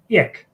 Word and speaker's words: ek: basically means me, and that ek will be basically pronounced like that in Johannesburg, here in Gauteng, but in the Western Cape they would say ek, and I was like, what?